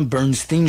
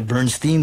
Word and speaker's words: Bernstein: Bernstein, je peux le dire Bernstein ou Bernstein, là. Bon, tout dépend de la prononciation. Et j'ai souvent entendu les deux prononciations, pardon.